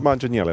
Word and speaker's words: Manganiello: Manganiello? Manganiello. Okay. I feel like it's a J, not a hard G.